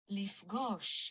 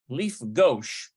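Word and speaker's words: לִפְגּוֹשׁ: no let's see uh Leaf gosh Leaf gosh so it's almost like uh Leaf gauche okay so that's that's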